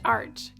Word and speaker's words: Arch: Louis Arc. It's pronounced arch.